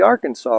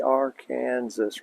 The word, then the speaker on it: Arkansas: that let me explain with outside the borders of kansas this is the arkansas river but inside the borders of kansas they pronounce it the our kansas river so we're honoring them